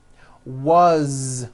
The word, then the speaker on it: was: Z ending his mom is Mary as you pronounce it with a voice to Z as the phone rang was which is a very common word it was